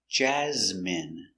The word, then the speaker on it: Jasmine: my favorite Jasmine pronunciation Jasmine j j a j z jazz Jaz m jasm jasm jasm n Jasmine Jasmine stress the first syllable Jasmine Jasmine is a